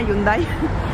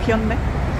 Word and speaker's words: Hyundai: The Hyundai, de, bueno, tal como lo diríamos al menos en España, Hyundai. Pero bueno, en coreano se pronuncia Hyundai.